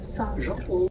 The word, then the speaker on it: Sartre: We are looking at how to pronounce Jean-Paul Sartre. Sartre.